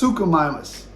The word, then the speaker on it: Suchomimus: It's not, I don't know, it's Suchomimus.